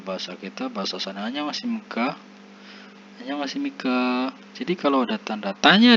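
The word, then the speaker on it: 안녕하십니까: Kalau ada tanda tanya di belakang ini, pengucapannya agak panjang ini. Annyeonghasimika, annyeonghaseyo, panjang. Itu artinya kita bertanya kepada lawan bicara kita.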